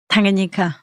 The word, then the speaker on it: Tanganyika: Tanganyika. Tanganyika, right.